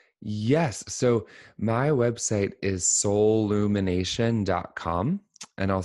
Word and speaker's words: Soulumination: Um there's only one L like soul. So, it's s o u l and then it's u m i n a t i o n like soul illumination and we'll include a link too.